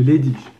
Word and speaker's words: Leydig: Donc en fait, les gens ils disent Leydig. Mais moi je dis souvent Leydig parce qu'en général, le G à la fin d'un mot, normalement ça se prononce Ch.